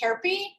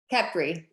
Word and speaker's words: Khepri: distributing two successful CBD companies, Higher Healing, and pronounce this one for me. Is it Khepri? Khepri. Khepri.